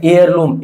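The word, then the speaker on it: heirloom: एयर में यहां पे एच साइलेंट है तो यहां पे भी क्या आ जाएगा? एन दोस्तों। उसी प्रकार से एयर लम।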